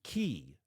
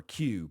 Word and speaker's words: Que: Chainalysis pointed to a high-profile murder of Chinese-Filipino steel magnate Anson Key, which is, or Q possibly, Q-U-E is how it's spelled. I'll just say Q.